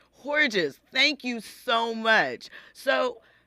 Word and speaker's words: Hordges: name properly for me so it's pronounced hores hores thank you so much